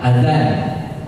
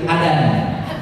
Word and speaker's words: azan: Orang Sunda, fa jadi pa, zal itu jadi d, azan itu kan pakai zal, azan, zal. Tapi karena nggak bisa bilang zal, orang Sunda bilang azan jadi adan, adan juhur.